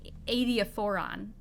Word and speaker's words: adiaphoron: I heard it as a noun, though, as an adiaphoron. Adiaphoron. Yeah, adiaphora is like it is adiaphora, and this is a specific adiaphoron.